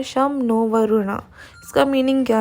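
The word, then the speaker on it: शं नो वरुणः: नीचे don't miss out में लिखा है, the emblem of the Indian navy contains the motto some नो वरुणा। इसको ऐसे प्रोनाउंस करते हैं शम नो वरुणा।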